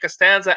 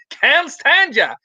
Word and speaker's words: Costanza: There was a gym trainer who was telling Constanza, who was pronouncing the last name Costanza as Constanza, and he ended up